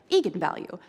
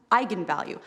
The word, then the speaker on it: eigenvalue: that i wasn't quite sure on how to pronounce it looked to me like eagan value so right i mean i think that's what